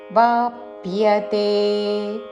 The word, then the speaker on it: वाप्यते: భദ്ద్భిర అనకూడదు వద్భిర వద్భిర వాప్యతే వ పక్కన ప కి య వత్తు వాప్యతే దేహ వద్భిర వాప్యతే పూర్తి శ్లోకము క్లేశోధికതേ